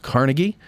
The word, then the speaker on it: Carnegie: of you who live outside of Pittsburgh it's pronounced Carnegie and um that's where you're going to want